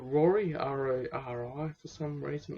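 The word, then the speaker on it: Rori: that exploring the booze moon which is called rory r-a-r-i for some reason it's spelled like that that makes it sound better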